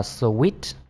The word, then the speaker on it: suite: Nhưng mà từ này chúng ta đọc là sweet. Nó giống như cái từ ngọt ngào là sweet.